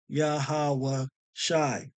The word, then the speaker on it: Yahawashi: you his name is yahawashi and how to pronounce it truly as yahawashi okay you have to go into these languages